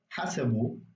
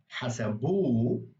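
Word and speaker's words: حسبوا: So when it's put at the very end of the word, like as a suffix after a vowel, what you're going to do is you're going to emphasize the last syllable. That vowel is going to be like the emphasized part of the word. Normally, it would be a different part of the word. So hasabu is they counted, but hasabu is they counted it.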